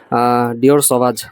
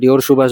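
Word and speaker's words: Dior Sauvage: ডিওর সওয়াজ, যেটাকে অনেকে ডিওর সুভাষ বা ডিআর স্যাভেজও বলে, উল্টাপাল্টা উচ্চারণ করে, যেটা 4,500 টাকা 5,000 টাকায় হয়তো আপনাকে ফুল বোতল সেল করতেছে।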